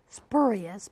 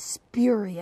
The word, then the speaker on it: spurious: The word spurious, I had always said spurious, but it's spurious.